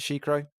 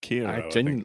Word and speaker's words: Sekiro: Do you pronounce it Shikro? Is that how you pronounce it? Sekiro. I thought it was Sekiro.